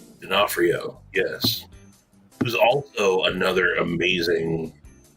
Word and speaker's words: D'Onofrio: like missing a nose he wears like a D'Onofrio D'Onofrio yes there's also another amazing character actor yeah